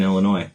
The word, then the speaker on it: Illinois: There's no noise in Illinois.